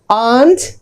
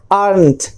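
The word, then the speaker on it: aren't: अब इसके जो प्रोनाउंसिएशन है दो है, आंट या फिर आर्नट। आर्नट हल्का सा र का साउंड आएगा, अदरवाइज र हटा दीजिए।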